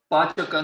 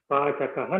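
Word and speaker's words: पाचकः: Pachaka nasti. Pachakaha nasti. You have to say the visarga also.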